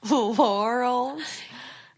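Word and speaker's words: Lorals: Laurels. It's spelled L-O-R-A-L-S, not like the name of the flower.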